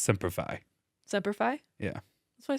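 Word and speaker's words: Semper Fi: or die oah I love you cuz it's pronounced seify seify yeah that's what I said you said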